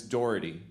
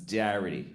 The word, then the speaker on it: Doherty: I had a teacher named Miss Doherty, but she thought her name was Mrs. Darity. She mispronounced her own name.